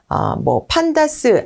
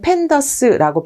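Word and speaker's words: pandas: 자, 우선 대표적인 것이 이제 넘파이라고 하는 것이 있고, 그 다음에 판다스 아니면 팬더스라고 발음하는데요.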